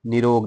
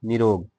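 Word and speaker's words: नीरोग: और इसी से एक बहुत अच्छा शब्द है निरोग। निरोग लोग हमेशा बोलते हैं, तो सुनने में आता है जैसे छोटी मात्रा का उच्चारण निरोग, लेकिन वो नी रोग होता है।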